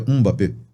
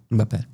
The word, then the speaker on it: Mbappé: E com M seria um. É M seria um. Daí é plural. Tem um jogador famoso e internacional que que é da França, mas tem origens africanas que é o Mbappé. Então seria todo mundo tá falando errado. Então seria Mbappé.